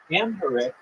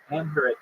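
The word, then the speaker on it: Amharic: a nonagon have nine is correct next question amher is the official language of what African country amher it's spelled a m h a r i c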